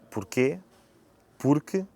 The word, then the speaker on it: porque: De seguida temos a conjunção porque, sem acento circunflexo, que pronunciamos com o som E no final.